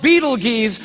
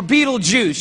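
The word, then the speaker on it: Betelgeuse: heard about this star it's called Beetle Gees or beetle be juice you can pick your pronunciation I'm obviously going with Beetle Juice and Beetle Juice is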